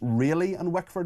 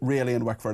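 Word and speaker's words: Rayleigh and Wickford: And I apparently uh uh Mark I'm apologies I I pronounced your constituency wrong wrongly yesterday. It's really in Wickford. Is that correct? Uh technically yes it is. It is ready in Wickford. Thank you. Really in Wickford.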